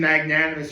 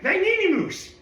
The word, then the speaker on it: Magnanimous: Um, I already mentioned Magnanimus earlier and Coupe always gets it wrong. Magnanimoose like he always gets the name wrong.